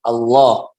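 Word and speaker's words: الله: Pada 3 tempat ini maka lafzul jalalah lamnya dibaca tebal. Jadi apa yang dibaca tebal? Ya, lam dari lafzul jalalah. Bukan awalnya, bukan alifnya, bukan, tapi lamnya. Allah.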